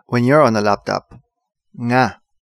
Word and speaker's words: nga: Nga. This is probably difficult for you to pronounce, but say it with me. Nga.